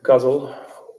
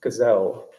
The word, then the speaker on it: ghazal: This is a ghazal, or I think Lorna Crozier pronounces it gazelle. That's the incorrect pronunciation, but the one that I prefer.